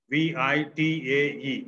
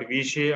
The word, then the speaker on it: vitae: The spelling is CURRICULUM, curriculum VITAE. It is pronounced vitae. Curriculum vitae. Are you noting down? Yes, sir. Curriculum vitae, CURRICULUM, curriculum VITAE, vitae, VITAE. It is not Vishay or Vitae, vitae.